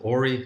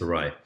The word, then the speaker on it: awry: I'm never sure if you pronounce it Ori. No, it's not Ori. Make things go awry. I think it's awry.